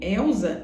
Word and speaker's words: Elza: Mas no Brasil, Elza é com Z, senão você não pronuncia dessa forma.